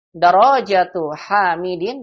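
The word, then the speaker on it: دراجةُ حامدٍ: Darajatu hamidin, begitu bacanya ya, karena ini bentuk mudhof, mudhofun ilaih.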